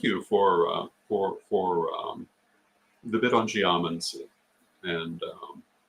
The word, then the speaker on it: geomancy: A lot of the languages that English takes words from would give you the pronunciation geomancy, because putting the accent on that second to last syllable is the case from some languages, but not from Greek.